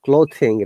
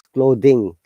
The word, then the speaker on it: clothing: remember this word is not clothing, rather it is clothing. All of you are just pronouncing with a. Actually, it is unvoiced. Okay, clothing. So unvoiced are those sounds when we use our tooth and tongue and air out. So it is clothing rather than clothing.